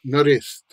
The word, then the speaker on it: narediti: But you would never hear a person just speaking in conversation with their friends say narediti. They would always say either naredit, naredit, or narest. Ne morem tega narest. I can't do that. Ne morem tega narest. Or ne morem tega naredit. And it's the same word, narediti, but but they reduce the vowels.